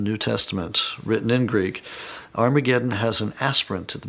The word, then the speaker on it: Armageddon: Testament written in Greek Armageddon has an aspirant at the beginning meaning it's pronounced with an H so it originally was harmageddon and you can get